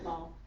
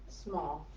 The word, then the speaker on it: Smoll: who is I'm going to get your last name wrong because it's always Drake to me Ellen small small yes so she's gonna come up and um